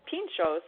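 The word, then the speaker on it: pintxos: there's a classic example Pinchot's is belt with the TX but that's pronounced like a choo like a CH oh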